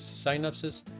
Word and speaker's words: synapses: Now we know much more about the neurons but at that time a very simple representation was that you have these synapses. How do you pronounce it?